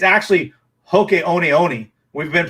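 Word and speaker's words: Hoka One One: And then some, most Hoka 11s are, it's actually Hoka Oni Oni. We've been pronouncing it wrong. I learned that yesterday when I was researching them. It's Hoka Oni Oni, but all us Americans say Hoka 11s, but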